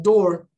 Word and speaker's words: door: Por exemplo, toda palavra com dois O's tem som de U. Tipo, moon. Não. Tem door. Também com dois O's tem som de O.